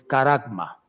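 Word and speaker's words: χάραγμα: Ahora, fíjese muy bien que la palabra marca en el griego es caragma. Caragma, dice, la marca de la bestia en el griego es caragma y se escribe charagma.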